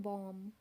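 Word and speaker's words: bomb: से पट गया था बीओएम चीफ इसको बोलते हैं बॉम्ब बॉम्ब ओं के लास्ट वाला जो भी होता है वह साइलेंट रहता है अगला हमारे पास शिव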